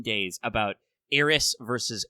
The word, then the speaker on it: Aerith: Japanese also uses that sound syllable to represent what in English is TH.